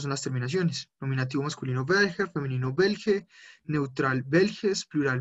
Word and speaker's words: welche: Perdón si ahí estoy pronunciándolo mal, esa CH suena belge, belges y plural belge. No como una J, sino más pronunciado. Lo repito nuevamente porque lo estaba pronunciando mal. Belge, belge. Belges, Belge, Belgen, Belge, Belges und Belge. Tampoco es como una Che, no es como una J, es como un paso entre las dos.